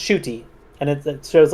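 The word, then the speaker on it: Ncuti: know about shy um his first name is pronounced shuy and it it shows like s h o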